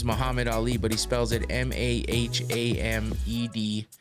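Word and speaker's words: Mahamed Aly: His name is Muhammad Ali, but he spells it Mahamed, and Ali is spelled ALY.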